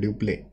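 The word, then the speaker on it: duplex: ड्यूप्ले बोलते हैं, ड्यूप्ले, pronunciation ड्यूप्ले है, लिखते डुप्लेक्स है, ठीक है।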